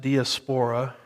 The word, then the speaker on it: diaspora: diaspora some pronounce it diaspora it just depends on which syllable gets the emphasis as i like to